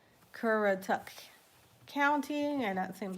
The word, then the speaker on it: Currituck: So, we're going to get in the Cur- Let me pronounce it right. Currituck County and that seems like a Algonquin word, Currituck.